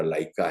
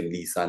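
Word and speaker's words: Leica: जाता है मान लीजिए कोई कैमरा लाइका है लिखा हुआ है अंग्रेजी में अगर एल ई आई सी ए ऐसा कुछ लिखा हुआ है तो आप उसे लीसा ना पढ़े या हैजल ब्लेड कोई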